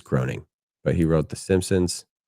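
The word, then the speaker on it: Groening: U Matt Groing Groing. He's American cartoonist and writer. I think it's groaning, but he wrote The Simpsons and Futurama.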